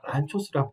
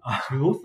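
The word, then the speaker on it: Lanczos: 제가 발음이 너무 어려워서 적어놨어요. 란초스라고, 란초스. 란초스 아니에요? 란초스라고요.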